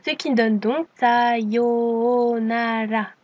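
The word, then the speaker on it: さようなら: Une nouvelle fois, attention au long mais également au R qui ne se prononce pas R comme en français mais qui ressemble plutôt à un L. Ce qui donne donc Sayonala.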